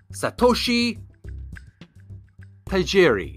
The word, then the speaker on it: Satoshi Tajiri: Shigeru Miyamoto mentored Satoshi Tajiri. It's S-A-T-O-S-H-I, and last name is spelled T-A-J-I-R-I.